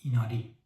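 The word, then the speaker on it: 稲荷: می‌تونید امتحان کنید این کلمه رو مثلاً چطوری تلفظ می‌کنید درستش هست نیشیکی یا مثلاً این یکی کلمه درستش هست ایناری و یا این یکی کلمه درستش هست شین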